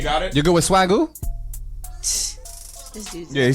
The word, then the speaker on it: Swagoo: I'm gonna go with the Swagoo. Can we go with Swagoo, Dimitri? Swagoo. It's spelled SWAG with a U. Swag cool, like the swag flute.